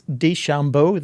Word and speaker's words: DeChambeau: Oh, DeChambeau, yes. Oh, have you? Oh, well. Not the pitcher. I was fascinated by how DeChambeau and the president both pronounced his name. It's DeChambeau, they say, which is certainly not the way